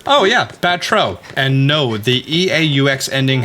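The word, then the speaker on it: Batreaux: Because it's not Batrox. No, that sounds weird. Yeah, if we're gonna go with French, I assume it's gonna be Batro.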